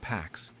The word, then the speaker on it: P4X: He chooses P4X, pronounced Pax, a cheeky nod to enforcing peace through punishment.